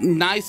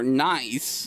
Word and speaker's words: Naix: society called the not nice at loss or nice uh with the where the x is pronounced like a z knows the secret of